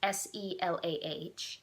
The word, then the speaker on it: Silla: so changing history follows Silla I think that's a say her name it's se lah who is a young